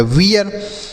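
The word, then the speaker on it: wear: आर से र ये हो गया वियर। एच से पढ़ेंगे ह। इ ए का उच्चारण इ ए के रूप में आर से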